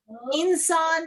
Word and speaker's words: إنسان: It's the whole word, and insan means a human being. So what you are going to do now, inshallah, is to put your mouth in the shape of seen and pronounce noon instead.